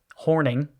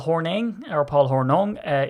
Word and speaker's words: Hornung: episode up about Paul Hornung. I said Hornung because I'm Irish. So I don't know. Is it Hornung or Horning? I know it's pronounced in the States Horning, but is that right?